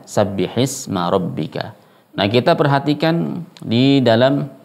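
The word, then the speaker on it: سَبِّحِ اسْمَ رَبِّكَ: Sabbihisma rabbika, bukan sabbihi isma rabbika, tidak, tapi membacanya sabbihisma rabbika.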